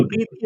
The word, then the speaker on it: Preity: इनका मूल नाम तो प्रीटी झिंगटा था। जेड आई एन जी जी प्रीटी प्रीति नहीं प्रीटी वो अंग्रेजी वाला प्रीटी सुंदर प्रीटी वुमेन वाला स्पेलिंग तो वही लिख रही है अभी मतलब अभी तो लिख रही है इनका नाम लेकिन हिंदी में प्रीटी का प्रीति हो गया प्रीति जिंटा हिंदी में